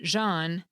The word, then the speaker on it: Jean: Similarly, because people's names often have unique meanings, some of those capitonyms are pronounced differently, like the material, Jean, and the French name, Jean, and herb, with a silent H, at least in the US, and herb.